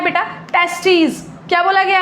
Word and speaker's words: testes: तो बेटा जब हम लोग पेयर की बात करते हैं कि लाइक हम दो टेस्टीज की बात कर रहे हैं तो स्पेलिंग में हो जाता है TESTES, दिस इज टेस्टीज। लेकिन अगर हम सिंगल टेस्टिस की बात करें तो इट इज टेस्टिस, जिसमें आई आ जाता है।